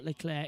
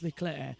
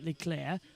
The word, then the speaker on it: Leclerc: Many people, by the way, are saying it's Arthur Leclerc. It's not. It's the same way it's not Charles Leclerc. It's a Monegasque French pronunciation, so it becomes Arthur Leclerc and Charles Leclerc.